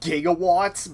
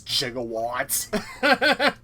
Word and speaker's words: gigawatt: Funny thing, it's actually supposed to be pronounced gigawatts, but for whatever reason, it's Christopher Lloyd actually pronounced it as jigawwatt.